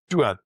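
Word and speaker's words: דוד: Well, the star can be pronounced as Duad or Dude. And Dude is the name for David in the Old Testament. So yeah, they don't pronounce it as David as we do. That's an anglicized pronunciation.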